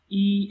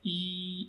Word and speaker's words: 一: Okay, so here we can see that the tone mark of E is unaffected, unchanged. Its pronunciation is the same as its original pronunciation.